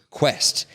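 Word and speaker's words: Quext: what was the name of their company quest Quest but they spell it in a weird way they spell it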